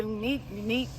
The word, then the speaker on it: Unieke: Oh, Unieke. Yeah. It's either unique. You know what I'm saying? Word. Either way, yeah.